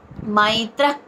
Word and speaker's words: మైత్రః: సర్వభూతానాం అద్వేష్టా సర్వభూతానాం రెండో చూడండి మైత్ర మైత్ర అక్కడ మై మైత మైత్రః మైత్రః అక్కడ క మహాప్రాణ అక్షరం క కింద పలకాలి అక్కడ తర్వాత విసర్గ ఉచ్చారణ మహాప్రాణక్షరం క ఖ అని పలకాలి.